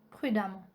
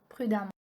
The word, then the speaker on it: prudemment: Note E-M-M-E-N-T et A-M-M-E-N-T se prononcent amant. Donc avec A-M-A-N-T. Ça c'est la prononciation. On prononce E-M-M-E-N-T et A-M-M-E-N-T comme amant. Par exemple, on a dit méchamment, brillamment, violemment, prudemment.